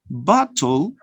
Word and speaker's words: bottle: No, because the consonant L here, all right, the consonant L becomes the nucleus of the second syllable. And it is a syllabic consonant.